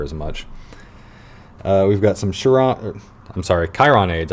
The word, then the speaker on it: Chiron: We've got some Chiron aids. I've been told that it's Chiron, and I used to call it Chiron.